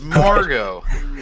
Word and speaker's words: Margot: has a T at the end of it. It's Margot.